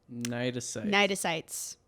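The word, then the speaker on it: cnidocytes: that thank you because it's not spelled how you would expect it it's spelled c-n-i-d-o-c-y-t-e-s oh yeah what's that c doing there it's just hanging out that has no business being at the front though no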